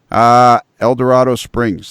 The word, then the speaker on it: El Dorado Springs: and a half south east of Kansas City eldorado springs the First Baptist Church of eldorado springs I